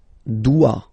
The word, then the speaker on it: dois: Je dois. Okay, remember, final S is not pronounced. Je dois. OE, when you combine the two, you get the sound wa wa wa.